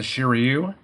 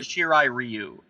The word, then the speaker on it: Shirai Ryu: does some of the Shiryu. Am I saying that right? Shiryu? Well, they always say Shirai Ryu because they don't know how to pronounce Japanese words. It should be Shirai Ryu.